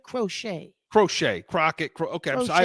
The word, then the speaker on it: Crochet: I think but Garett Crockett okay um from the white socks that's aoun he pronounces it crochet crochet Crockett cro okay